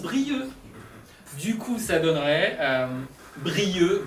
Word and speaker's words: Brieuc: On écrit Brieuc, mais on prononce Brieux.